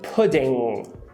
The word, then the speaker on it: pudding: Então, a pronúncia recomendada seria pudding. Só que, como ela está falando muito rápido, esse D, ele bate tão rápido nos alvéolos que ele vira o flap, rareriroru. Então, pudding.